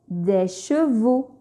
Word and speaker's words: chevaux: Et parfois, en fin de mot, X s'écrit mais ne se prononce pas. On dit que X est muet. Exemple, une noix. 2. Le prix. Des chevaux.